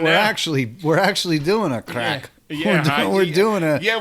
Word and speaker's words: craic: This is way different than American crack. Yes, this is definitely different than American. Spelled CRAIC. Yes. It's Gaelic. It's Gaelic, yes.